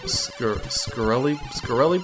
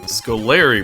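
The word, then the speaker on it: Scoleri: And our first boss that we have to defeat are the Scarelli brothers, I think is their name? Scolari brothers, there you go, that's how you pronounce it.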